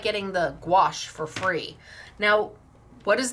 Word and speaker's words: gouache: it's pronounced I understand gouache squash that's how I know to remember it I had to call